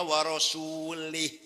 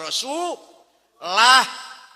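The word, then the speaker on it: ورسولُه: Innallaha barium minal musyrikina waasulih. Allah lepas orang tanggung jawab enggak melindungi. Allah tidak melindungi orang musyrik dan tidak melindungi Rasulullah. Salah. Yang benar bacanya, innallaha barium minal musyrikina wa rasulah.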